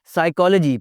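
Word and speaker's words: psychology: अख्ताम की तरफ बढ़ते हुए जी, साइकोलॉजी, पी की आवाज़ नहीं आनी जी यहाँ पे। साइकोलॉजी इज़ नॉट पसाए चलो जी, इट्स not anything else, it's साइकोलॉजी, पी की आवाज़ नहीं आएगी।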